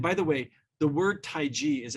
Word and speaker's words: taiji: the way the word taiji is actually pronounced not Tai Chi it's Tai ji more like j-i which means the great